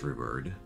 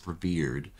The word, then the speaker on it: revered: these are custom made here and uh Fortress rivered revered oh God I I always pronounce that word wrongly I I looked up the pronunciation of that word now five times it's revered somehow my brain always wants to mingle it